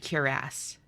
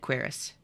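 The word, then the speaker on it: cuirass: He said curass. I've always said quiras.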